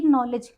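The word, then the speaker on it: knowledge: एक ही नॉलेज नॉलेज सबको ही पता है। यहां पे हमारा डी साइलेंट क्यों होता है?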